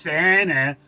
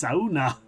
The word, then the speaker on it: sauna: He's like, it's not pronounced Sana. It's like, it's sauna.